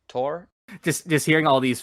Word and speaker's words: Thor: correct um okay also i think it's pronounced tor just just hearing all